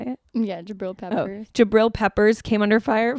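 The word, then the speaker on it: Jabrill Peppers: Yeah, Jabril Peppers.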